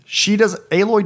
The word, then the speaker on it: Aloy: Aloy doesn't have the baggage that past Lara Croft games have given to the player with okay.